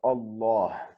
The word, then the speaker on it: Allah: then it is pronounced allah but if it is preceded by something that ends in a kasra then it is pronounced like billah so we would say